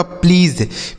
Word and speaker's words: please: देखिए PL से दोस्तों आधा प और ल हो जाता है, EA से बड़ी ई और SE से ज हो जाएगा। यह लिखा गया आपका प्लीज़, PLEASE प्लीज़।